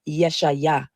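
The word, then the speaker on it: ישעיה: The funny thing about the name Isaiah is many people don't know that the true Hebrew pronunciation of Isaiah is Yeshaya or Yeshu.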